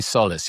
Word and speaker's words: Solace: And and and is it Solless? I mean, how do you say it? I say I say Solace.